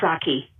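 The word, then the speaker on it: Psaki: pronounce it correctly yes it's jen saki with a a a short no yes a soft a instead of instead of saki jen saki bye bye so i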